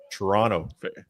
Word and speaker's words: Toronto: They're in Toronto. What do you call it when Chewbacca makes an error? A Wookiee mistake. And Mike, I appreciate the effort, the dropping of the final T. Toronto.